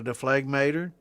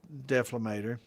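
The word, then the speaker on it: dephlegmator: And this has got a deflagmator, or a deflamator, depending on how you want to pronounce it. It's deflamator.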